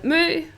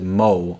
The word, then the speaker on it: Mø: I've never heard that, maybe you would pronounce it Mo or M, because it's an M and then the letter that's an O with a line through it, and that letter is called Ø here in Denmark.